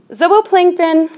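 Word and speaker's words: zooplankton: is the Zillo plankton zobo plankton by the way it's pronounced as Oh Oh plankton but it looks like zoo well this can help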